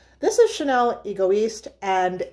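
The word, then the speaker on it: Égoïste: if I'm wrong but he kept pronouncing it egoist and I was like that is Nails on my chalkboard then for a second now you know how you're like baby I'm maybe I'm pronouncing it wrong I'm not I know I'm not anyway this is Chanel ego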